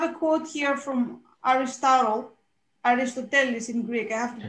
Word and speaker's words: Aristoteles: I have a quote here from Aristotle, Aristoteles in Greek. I have to pronounce it the right way, of course.